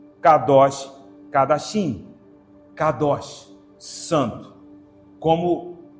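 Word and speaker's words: קדוש: K, D e SH, que nós pronunciaríamos com Xi. Pensa em Shein, aquela loja de compras. Isso, esse som. K, D, Xi. Com a vocalização Kadosh, Kadosh, Kadashim.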